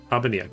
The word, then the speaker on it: Abania: They did say again, I want to make sure I'm pronouncing everything right. They gear Abania. Abania, great.